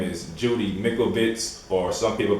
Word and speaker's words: Mikovits: the lady called, or her name is Judy Mikovits, or some people pronounce it Mikovits, but her name is Judy Mikovits, you know, so this is the one I